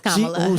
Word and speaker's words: Kamala: How do you pronounce? Is it Kamala? It's Kamala.